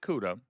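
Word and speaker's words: Ceuta: Two weeks before migrants from Morocco invaded Cuda, that's how you pronounce it.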